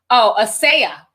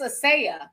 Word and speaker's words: Asia: Asia Muhammad says, hey, sis, again, my name is pronounced, Asaya. Not like the content. Oh, but it's spelled like Asia, but it's Asaya.